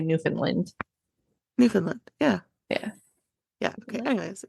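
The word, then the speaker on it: Newfoundland: out from trassi nin I don't know why I was trying to pronounce that a different way um newfinland you should know that that is yours I know but I was trying pronounce it how you guys would like know it like New Foundland oh we don't say that at least I've never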